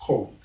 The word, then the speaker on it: COLD: chronic obstructive lung disease, but it's pronounced cold.